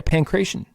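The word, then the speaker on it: pankration: is pretty much correct the sport was called pancreation p-a-n-k-r-a-t-i-o-n is how we would spell it in english uh yeah pancration holy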